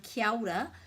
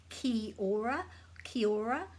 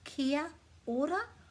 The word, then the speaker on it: Kia ora: Lots of people say Kia ora, but there's no silent letters in te reo. The A has to be pronounced. So that's either Kia Ora, or as most Māori people will say, they put this A and this O together, Kia ora, Kia ora, ao, like the beginning of Aotearoa, Kia ora, with